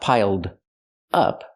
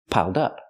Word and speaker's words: piled up: an adjective piled up we have the D D sound for the E D Link The Sounds piled up pronounce it like one word not piled up but piled up connect the D with the next word dup dup piled up pronounce it like one word it's easier that way piled up is an